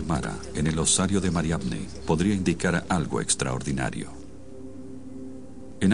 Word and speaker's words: Mariamne: era un apóstol en el movimiento cristiano más antiguo, entonces la designación de Mara en el osario de Mariamne podría indicar algo extraordinario.